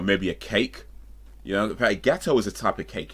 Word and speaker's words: gâteau: Gâteau is actually French. I'm pretty sure gâteau is French for cake.